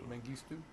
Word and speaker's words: Mengistu: to see President, how do you pronounce his name? Mengistu. Mengistu.